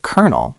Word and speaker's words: colonel: We pronounce it kernel like a piece of corn.